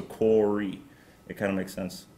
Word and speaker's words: Kåre: stuck with corey and phonetically corey also makes sense because my the second letter in my name it's a norwegian letter o and then the last letter e in english is e so quarry it kind of makes